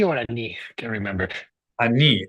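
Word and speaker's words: אני: Ani, accent on the final syllable.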